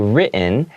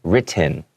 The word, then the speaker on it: written: it in a very, I'm kind of taking back the T sound, so it's not too hard. I'm not saying it like written, okay?